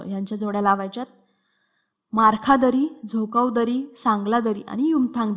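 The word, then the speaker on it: Dzükou: त्यानंतर आहे झोकाव दरी. ह्याची स्पेलिंग थोडी वेगळी आहे, डी सायलेंट आहे.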